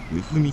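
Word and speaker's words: 大道: ですが、沖縄読みだと大道はうふ道となるの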